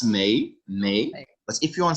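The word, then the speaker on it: mais: you want to say but that's may may but if you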